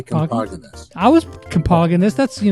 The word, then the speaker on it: Compoginis: My dad said Compoginis, so I say Compoginis.